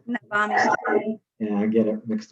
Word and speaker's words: Navami: Navami. Yeah, I get it mixed up sometimes. We pronounce it Yeah. Navami, like you said.